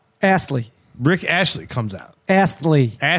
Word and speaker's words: Astley: Ashley, Rick Ashley. It's Astley. Aster. Rick Astley. Rick Ashley. Rick There's no Ast. Ash. It's Ast. There's Is it no AST? Spell it. A-S-T-L-E-Y.